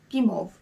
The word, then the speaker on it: Guimauve: here let's start with gimov i think it's pronounced game of the pink one i checked with google translate this is how the lady pronounced gimov so i'm going to say the same kimov the pink one this